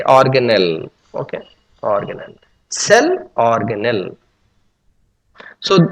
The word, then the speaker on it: organelle: Okay, some people pronounce organelli or something like that. Okay, you can say organelle.